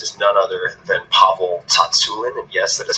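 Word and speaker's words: Tsatsouline: and my guest is none other than pavel Tatsu in and yes that is how you say it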